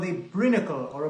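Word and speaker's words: brinicle: An undersea icicle is called a brinacle or a brinacle. I don't know if it's brine like briny sea, but it's spelled brinacle or ice stalactite.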